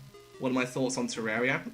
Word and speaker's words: Terraria: I know it's pronounced Terraria, but people say Terraria still because that's just what they're used to.